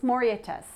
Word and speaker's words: Mauritius: Mauritius.